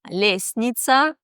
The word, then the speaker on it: лестница: Или в слове «лестница» мы не слышим букву «т».